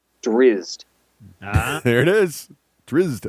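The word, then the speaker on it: Drizzt: okay hang on okay pronounce every letter emphasis on the I as infused drizzed ah there it is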